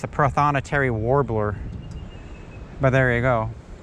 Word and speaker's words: prothonotary: the finally gonna say it right it's the prothonotary warbler but there you go i've seen those